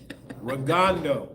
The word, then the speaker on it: Rigondeaux: Rigondeaux. That's how you pronounce it.